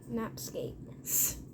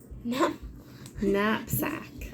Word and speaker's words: knapsack: And you were right when you thought there was a silent K there. So nap. Knapsack. Knapsack.